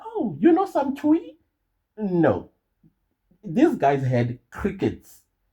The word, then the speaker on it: Twi: I know I'm pronouncing it incorrectly. I know it's spelled Twi, Twi, but it's actually Twi or something like that. That's how you pronounce it.